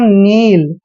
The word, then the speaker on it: kneel: Next है KNEEL, यहाँ पर जब भी एन से पहले के आता है, के हमेशा साइलेंट होता है। इसको पढ़ते हैं हम नील।